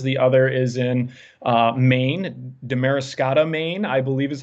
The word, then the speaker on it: Damariscotta: The other is in Maine, Damariscotta, Maine, I believe is how you pronounce it.